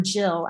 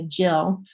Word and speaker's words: gill: I didn't know what a gill or a jill. It's actually usually pronounced in America, jill.